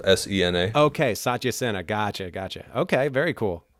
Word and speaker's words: Satya Sena: you have a name for it yet or Satya Sena is the name of the bed okay what how do you spell that SAT why a let Satya Sena se na okay Sachi Sena gotcha gotcha okay very cool well I look